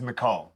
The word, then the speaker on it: Michel: been saying it wrong it's not Michelle it is it is mall it's Mall not this this mall all the AEK and